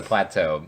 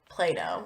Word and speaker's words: plateau: And it's spelled A-E-U. Yeah, not Plato. They're just... And wrong. You can tell that word comes from French because of all the vowels in a row.